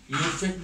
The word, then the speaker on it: IUPAC: তারপর সর্বআধুনিক যে পদ্ধতি সেটা হচ্ছে আমরা আন্তর্জাতিক পদ্ধতি, যেটাকে আমরা IUPAC পদ্ধতি বলি, উচ্চারণটা আমরা ইউফেক বলি, এটা হবে IUPAC।